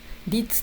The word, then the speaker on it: 率: B 死亡率、率と読みます。